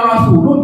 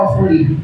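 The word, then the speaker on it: رسوله: Harusnya wa rasuluh, dibacanya wa rasulih. Artinya jadi kebalikan.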